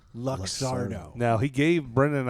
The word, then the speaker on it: Luxardo: luxury cherry like sugary syrup how do you pronounce that word luxardo luxardo now he gave brenda and i each one